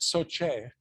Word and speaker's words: SOCE: How do you say that? Do you say all the letters? Is it SOCE, GICE? It's like, it's hard to figure, isn't it? So we used to call it SOCIE.